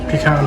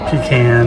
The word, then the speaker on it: pecan: cool visually or pecan pie or pecan and then on how you like to pronounce it I say pecan personal likes to go